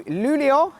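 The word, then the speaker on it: Luleå: welcome back to Northern Sweden welcome back to lulio and this time I pronounced it correctly because about a week ago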